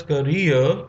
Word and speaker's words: career: Anis Jung began her career. So this word is pronounced as career and not career uh, or career as a writer in India.